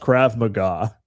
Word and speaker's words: Krav Maga: It's called I'm pretty sure it's pronounced Krav Maga.